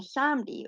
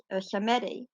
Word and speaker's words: Samedi: He doesn't represent that Loa, but his design is based on Baron Samedi or Samedi. Samedi. There's more than one pronunciation.